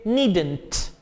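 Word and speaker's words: needn't: नीड नॉट, नीड नॉट, नीड कहते हैं जरूरत को, नीड जरूरत, और नीड नॉट को आप प्रोनाउंस करेंगे नीडेंट, नीडेंट.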